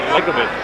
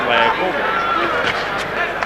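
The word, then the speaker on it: Liakhovich: on his victory over Likovich. Who likes that name, actually pronounced Liakovic.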